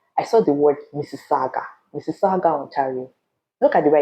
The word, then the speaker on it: Mississauga: before I came, I saw the word Mississauga, Mississauga, Ontario. Look at the way I just pronounced it.